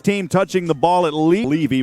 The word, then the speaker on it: Levy: Each team touching the ball at Levy. We were saying Levy, so it's Levy, the pronunciation on that.